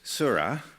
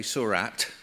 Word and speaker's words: Seurat: um uh painter and the painter of course surra um the English say Surat put the at the end because we can't pronounce French names uh um made little